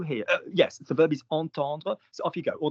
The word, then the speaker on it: entendre: I've told you entendre. I do not want to hear this word pronounced any differently. What's the first syllable? En.